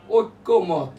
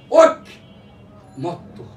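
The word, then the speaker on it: ঐকমত: আসতেছে সঠিকটা আসে ঐক্যমত ওই কয়জাফলা মত যে কথাটা প্রথম দিন আমি বলেছি এইটার উচ্চারণ হবে ঐক মত এই ঐক মানে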